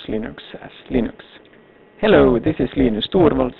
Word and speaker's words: Linux: because in store was unlike commands UNIX or Linux this is installed and I pronounced in exhaust Linux hello this is installed